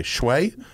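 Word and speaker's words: Shoei: have a showy is how do you pronounce s-h-o-e-i shway s-h-o-e-i and a nice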